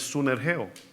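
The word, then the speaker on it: συνεργέω: Esa palabra griega, ¿sabe cómo es o cómo se escribe esa palabra? Es sunergeo, lo que acabamos de decir, sinergia.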